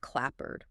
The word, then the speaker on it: clapboard: Your mouth is just seeking the path of least resistance, and we see the exact same assimilation with clapboard, pronounced k l a b e r d.